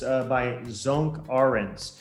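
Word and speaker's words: Sönke: so it's highly recommended book it's uh by zonk orange it's spelled s o with the two dots above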